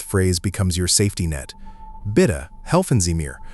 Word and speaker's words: Bitte: Bitte, helfen Sie mir. Pronounce it bit too.